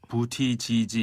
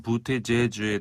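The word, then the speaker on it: Buttigieg: 우리 언론에서 부티지지 이렇게 이제 네. 표기를 많이 하던데 이제 정확한 발음으로는 부티제주에 더 가깝습니다.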